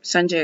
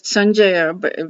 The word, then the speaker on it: Sanjaya: it's Sanjay Uvacha, which Sanjay is speaking. And I know I'm not pronouncing Sanjay, it's Sanjaya because in Sanskrit it's Sanjaya, in Hindi it's Sanjay because that's how Hindi ends up being.